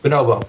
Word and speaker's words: bonobo: Bonobo.